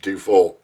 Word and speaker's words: DeFoe: But it's pronounced DeFoe.